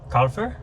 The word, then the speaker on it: Kaufer: This is Kalur. Yes. Did I pronounce that right? That's right. Yeah. Calur.